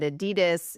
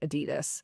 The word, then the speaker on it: Adidas: You were working in marketing at Adidas in the 90s, and there was this huge